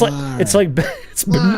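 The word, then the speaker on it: moiré: It's MOAR.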